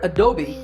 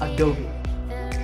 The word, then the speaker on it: Adobe: as a dome but that e at the end is not silent it should be said as an egg sound so it's adobe number nine is this